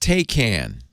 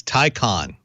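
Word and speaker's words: Taycan: how are you this week now it's not pronounced take can no it's Tyco on Tyco enunciation yes and it was announced in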